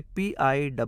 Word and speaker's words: pill: Double L 'll' नहीं, 'l' है, इसलिए P-I-L-L मिलकर pill बनता है, pill का मतलब दवा की गोली होता है।